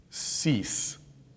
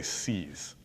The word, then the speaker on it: cease: Well, like for cease, I say seize, like grabbing something, seize.